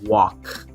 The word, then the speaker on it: walk: Todas las palabras que tienen lk no pronuncias la L, sería walk.